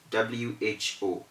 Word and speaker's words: who: exempted from the rule one of those words is who w-h-o you cannot say for w-h-o because it is an exception you say who for w-h-o and then you say